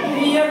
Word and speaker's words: the: देखो टी एच ई इसको द पढ़ेंगे। क्यों द पढ़ेंगे? क्योंकि इसके बाद वाला जो वर्ड है जो शब्द है ठीक है शब्द का